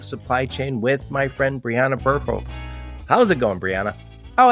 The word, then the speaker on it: Birkholz: So, Briana Birkholz, well done on the pronunciation, Joe.